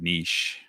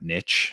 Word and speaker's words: niche: about it consoles are kind of Niche that's the proper pronunciation not Niche it's nich um and I have